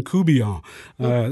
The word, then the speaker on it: Couvillon: with a V, and I call him Coubillon. So that's a very familiar name, Couvillon, over in that part of the world. I say Coubillon, and that I think is more phonetically the way most people say it.